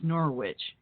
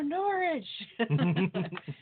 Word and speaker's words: Norwich: and they say Norwich and when it's getting pronounced here in the u.s. it's Norwich and they were all yelling no Norwich which is funny to me because I it